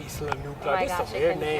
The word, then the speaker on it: Isla Nublar: to Isla Nublar. No, Isla Nublar. Isla Nublar. Oh my There's gosh, some I weird couldn't names pronounce in it.